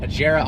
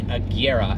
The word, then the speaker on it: Agera: so even automotive enthusiasts a jira r is not right it is the Kiera and Koenigsegg that is